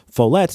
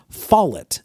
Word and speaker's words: Follett: the name King Follett, which leads me to believe it's Follett, not Follett, as many people will say the King Follett Discourse.